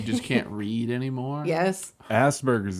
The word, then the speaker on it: Asperger's: can't read anymore yes Asperger's is another one I think I just said it wrong no you said right yeah some people say that one wrong people should stress the P a little more in it yeah Asperger's yeah but